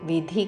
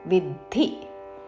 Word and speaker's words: విద్ధి: ఉన్నది కాబట్టి తై యజ్ఞౌ విద్ధి ద కి మహా ప్రాణాక్షరం ధవత్తు విధి కాదు విద్ధి రాజసസം తై యజ్ఞం విద్ధిరాజസം